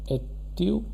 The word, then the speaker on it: étudiant: This is student, pronounced as étudiant.